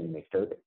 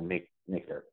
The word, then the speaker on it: mkdirp: And we will need, I don't know how people actually pronounce this, but I heard somebody say make derp, and it made me smile.